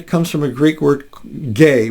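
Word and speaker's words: γῆ: from a Greek word gay we could spell that GE or G or g a y but it's pronounced gay and and it it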